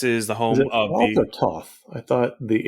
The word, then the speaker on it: Thoth: to tell you that apparently the most common pronunciation is thoth he is the egyptian god of learning and writing but anyway this is toff's estate this is home